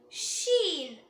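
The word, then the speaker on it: شين: நாவோட நுனி கீழ் வரிசை நடுப்பற்களோட ஈரை தொடும்போது உச்சரிக்கணும். Scene scene. Next letter ஷீன்.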